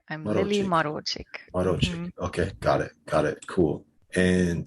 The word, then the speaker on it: Marocsik: It's Marocsik. I'm Lili Marocsik. Marocsik.